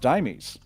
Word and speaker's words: Deimos: I should probably stipulate that with apparently Mars's moon, Deimos, is actually pronounced Dimes.